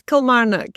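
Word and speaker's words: Kilmarnock: Have I pronounced that correctly? Yes. Kilmaruk.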